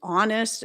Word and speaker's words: honest: hour like on the hour he air as in heir to an inheritance and honest these are all words with silent h's and in some places